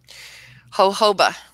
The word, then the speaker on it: jojoba: Jojoba.